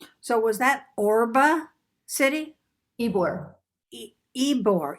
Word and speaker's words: Ybor: best i could so was that orba city ebore ebor e spell it then for me ybor it's yeah even it's it's ybor but they pronounce it war city keyboard okay wanted to